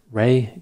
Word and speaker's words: Ray: Today's question is, can I analyze the case of Ray Gricar?